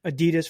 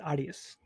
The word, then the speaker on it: Adidas: Adidas for those in America.